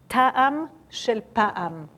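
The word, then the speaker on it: טעם של פעם: It's very simple and it rhymes. And it says, Ta'am shel pa'am.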